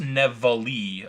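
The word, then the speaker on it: Nevele: Grand Hotel highrise Resort oh it's actually pronounced nevali according to Wikipedia anyway nevali nevali wow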